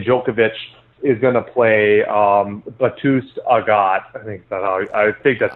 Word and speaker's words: Bautista Agut: Bautista Agut.